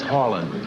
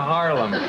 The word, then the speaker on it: Harlen: My name is Harland. That's with an N. Harlen. Harland is I'm so embarrassed. All these years I've been pronouncing it a Harlem.